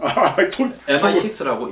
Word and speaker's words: MI6: 심한 거 같아요 그 M16 읽으면 또 mi 6라고 읽어야 됩니다 아이가 똑 16 같이 보여요 예 그렇죠 그래서 mi6